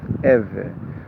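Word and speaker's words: עברי: A direct translation of the name of the ancient Israelites will read Ivri, pronounced, or the Ivri pronounced Êvê.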